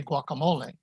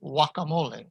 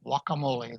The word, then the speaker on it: guacamole: that start with gua the g is not pronounced at all so in english we say guacamole but in spanish it is simply guacamole guacamole the g is ignored